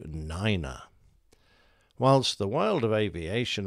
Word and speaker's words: niner: be fairly distinct however one should be spoken as if spelt w-u-n three is tree four becomes four five is five seven is seven and nine grows to niner whilst the world of